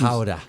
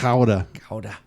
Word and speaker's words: Gouda: Leon used to say you gotta put Gouda. You gotta put some you gotta put some spit into it. Gouda. Chowder. Yeah, it's like chowder actually.